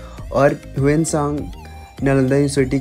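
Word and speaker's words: Xuanzang: तो एक Chinese traveller था जिसका नाम हुएन सांग था। बेसिकली लोग इसके प्रोनाउंसिएशन बहुत गलत करते हैं, क्योंकि ये चाइनीज़ नेम है, बट जो मैं प्रोनाउंसिएशन कर रहा हूँ वो बिल्कुल करेक्ट है, क्योंकि मुझे चाइनीज़ थोड़ी थोड़ी आती है।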